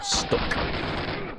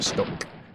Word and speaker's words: STUK: called Speedrun Tools UK, or STUK, or Stuck, depending on how you want to pronounce it. It's written as STUK, or Stuck, without the C.